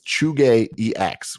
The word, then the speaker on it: Zhuge: It is ChugeEX, which is at ZhugeEX, but it's pronounced Chuge. Chuge. That's interesting. I always pronounce it Zhuge, but that's not. It's not. He corrected me one time.